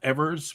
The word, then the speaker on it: Evers: So Johnnys or Evers, he pronounced it himself Evers, but he said everybody else called him, so he was fine with either.